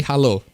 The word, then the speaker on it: halo: It's simply halo. It's hello. It's just halo. as in the Halo game, but it's pronounced Halo.